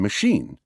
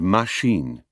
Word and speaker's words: machine: pronounce them journal and machine the French give them their characteristic equal stress joural and machine even words with many